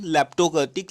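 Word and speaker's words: leptokurtic: इसको नाम को अच्छे से नोट 1-2 बार प्रोनाउंसिएशन कर लो, लैप्टोकर्टिक, लैप्टोकर्टिक, ठीक है।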